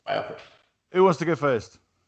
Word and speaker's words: biopic: Biopic or biopic? Biopic. I will say biopic, but Mark Kermode, film reviewer, says it should be pronounced biopic because it's the amalgamation of the words biographical picture.